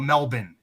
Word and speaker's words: Melbourne: I've heard good things about Melbourne.